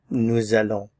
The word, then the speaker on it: nous allons: Nous allons, nous allons. Remember, by itself, this is just pronounced nous, but because allons begins with a vowel, we have liaison.